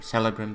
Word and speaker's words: Celebrimbor: Alright, so there we go, our lore drop, and our name Talion, and yes, it is Celebrimbor as they pronounce him out, Celebrimbor.